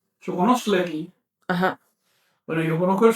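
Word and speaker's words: xoconostle: Permíteme, es que estoy pronunciando mal. Chocono shokonoslei.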